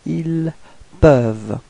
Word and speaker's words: peuvent: Okay, for ils au pluriel, then you get ils peuvent. Repeat. Ils peuvent. Okay, so as usual, you've got this ENT at the end, but then you don't pronounce it. You only pronounce ils peuvent.